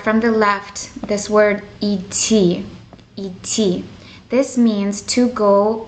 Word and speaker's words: идти: We're going to start from the left, this word et. Et. This means to go by foot one way. It's spelled e, de, te, e. And then the second letter, de, it's almost like silent.